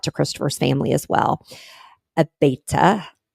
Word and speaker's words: Abeyta: Abaeta, a b e y t a, Abaeta Christopher.